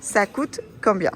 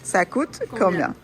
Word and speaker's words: Ça coûte combien: Ça coûte combien? Así se pronuncia. Ça coûte combien? Ça coûte combien?